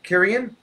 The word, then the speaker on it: Kieran: Especially, hey, he's a great age, Kieran is, and is that how you pronounce it? Yeah.